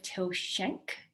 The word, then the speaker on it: Till Schenk: sports dietitian and today i am chatting with till shank is that have i pronounced your last name right that's pretty damn